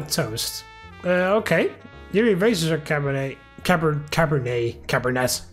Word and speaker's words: Cabernet: okay yuri razors are cabernet caber cabernet cabernet cabernet it's wine so i guess it's french so you don't pronounce the t in that case and